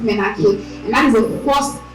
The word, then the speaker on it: menarche: It is pronounced menarche. Okay, not menarche. It is pronounced menarche, and that is the first experience that a girl has, when menstruating.